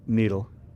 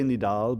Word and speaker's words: Nidal: it it was like I always want to say nidal but it's needle needle the emphasis on the first I apologize I was